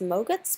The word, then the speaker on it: MOGRT: so motion graphics templates also known as ma gets pronounced like yogurt basically templates where they are